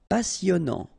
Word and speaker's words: passionnant: Okay, here you pronounce the double S because you've got a vowel, so it's really a strong one. Passionnant. Final T not pronounced, and then here you get this en sound.